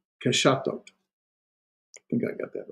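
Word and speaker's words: קשתות: In the plural form, just the whole vowel, a tav, and so you get here we go. Ke sha thot. Keshatot.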